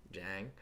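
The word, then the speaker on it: Niang: How do you say it? It's like Jang.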